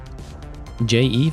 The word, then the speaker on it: jEVE: J Eve is how you say it.